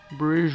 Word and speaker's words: Brouwerij: I think it's Brewers. Brewers West. It's spelt all weird. Brouwerij. But it's like Brewers, you know?